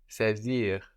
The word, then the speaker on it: saisir: And to seize is saisir. Saisir. This is spelled S-A-I. This A-I gives us E, like in nécessaire, saisir. And we have the S, S-A-I-S-I-R, pronounced like a Z, saisir.